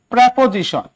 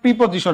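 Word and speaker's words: preposition: প্রেপোজিশন। প্রেপোজিশন, ওনাকে উচ্চারণ করেন প্রিপোজিশন, এটার উচ্চারণ কিন্তু প্রেপোজিশন, এটা উচ্চারণ কি?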